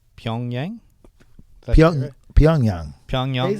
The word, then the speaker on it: Pyongyang: Pyongyang?